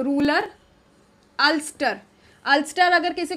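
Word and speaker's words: Ulster: जाती है, तो इसीलिए जब उसको अल्सर बोला जा सकता है तो ये अल्स्टर ही प्रोनाउंस किया जाएगा।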